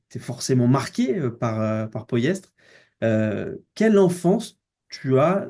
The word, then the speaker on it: Pollestres: On prononce poestre. Ouais. Ouais, c'est poyestre.